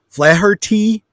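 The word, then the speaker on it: Flaherty: uh sc alum uh joe flat uh uh flattery flathearty thank you i could never pronounce that eugene levy and and harold ramis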